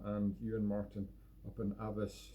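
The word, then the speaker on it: Alves: ewan martin up in avis spell a l v e s one of these weird scottish words it doesn't pronounce anything look like it looks like but hey that is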